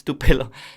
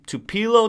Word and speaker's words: Tupelo: to to pelo mississippi to pelo in spanish it's tupelo but to to pillow to pillow mississippi um obviously is known